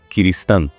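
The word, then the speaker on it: Kirishitan: um ciristão, que é uma corbitela de pronúncia de cristão para o japonês. cristão Kristan.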